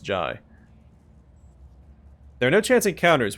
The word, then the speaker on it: Jae: jart ji hyari he want to say Jay but it's pronounced ji there are no chance